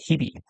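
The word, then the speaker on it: 日々: It uses the he reading which often when you have an h in syllable in the second position, it's pronounced instead with a b. So, we say hibi.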